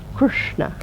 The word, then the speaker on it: Krishna: example last time of the word Krishna which has got a dot underneath they are the s and the N which means that it's a pronounced with the tongue pointing towards the roof of the mouth Krishna try that so